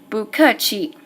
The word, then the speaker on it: 不客气: So I made 不 and 客 into second tone, and remember that's only how I'm going to pronounce it, not how I'm going to write it. So now it's 不客气, and it makes it much easier to pronounce.